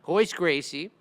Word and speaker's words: Royce Gracie: But they don't pronounce the R.